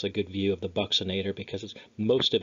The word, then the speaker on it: buccinator: Last on here, we have a buccinator, weird pronunciation. You might remember in chapter one, buccal region is the cheek area. So there's your BUC for your cheek, except it's pronounced differently here.